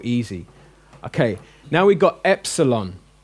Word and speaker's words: epsilon: okay now we've got epsilon which is the e in met it's an air sound